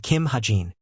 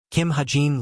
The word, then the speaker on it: Kim Hajin: My team members are Jin Hozung, Hazuki, and Kim Hajin. She looked at him with a helpless expression as she pronounced his name wrong as Kim Haji. Kim Hajin looked at everyone.